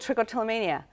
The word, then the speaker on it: trichotillomania: Trichotillomania.